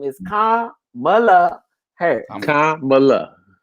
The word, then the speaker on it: Kamala: Like Kamala, like a comma and Mala. You know, right. That's a good, but that's a good way of Kamala.